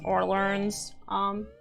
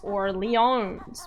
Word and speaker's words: Orleans: The locals don't say lean. Okay, so does it say New Orleans? Like or and learns. Or learns. Orleans. Depends if you're French. Because in French it's Orleans.